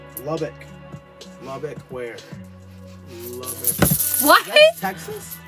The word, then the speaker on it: Lubbock: Where's Ludbach? Lubbock.